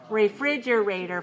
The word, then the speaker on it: refrigerator: three you must know refrigerator five syllables stressa second one right refrigerator okay how about